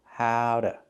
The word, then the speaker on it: how to: She knows how to sew. How to. We don't say how to, we say how to, how to. The T changes to a fast D.